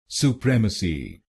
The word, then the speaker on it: supremacy: तो बनेगा सुप्रेमेसी। सुप्रेमेसी। सु प्रेम अ सी। सु प्रेम अ सी। सुप्रेमेसी। सुप्रेमेसी। और इस शब्द में आपको दूसरे शब्दांश पर यानी PREM पर जोर डालना है।